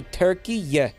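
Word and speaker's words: Türkiye: the real turkey overlords how do you pronounce it turkey yeah turkey yeah yeah like y-e-h yeah you're supposed to say turkey yeah foreign yeah again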